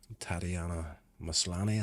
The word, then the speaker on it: Tatiana Maslany: You've got She-Hulk, um, Tatiana Maslany, I think is the pronunciation of her name, isn't happy, along with Brie Larson as Captain Marvel.